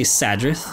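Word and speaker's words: Sadrith Mora: don't even know anymore I'm going say sadrith because that's how it's spelled quickest way is of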